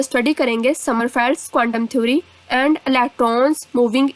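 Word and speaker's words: Sommerfeld: इसको समरफील्ड्स भी कुछ लोग स्टडी करते हैं, पढ़ते हैं, और कहीं कहीं पर जो आई है वो साइलेंट होने की वजह से समरफेल्ड्स भी कहते हैं।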